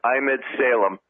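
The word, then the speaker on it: Emad Salem: it's AM ad and then si L AM pronounced I'm ed Salem I used to think it was a model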